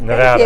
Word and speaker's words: Nevada: Nevada? Yes, Nevada.